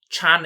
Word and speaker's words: Chan: was not born rich chan is the cantonese pronunciation by the way miss chan over 30